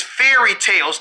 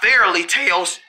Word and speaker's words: fairy tales: tell good fairly tale it's not fairly it's fairy tales not fairly tales well i say it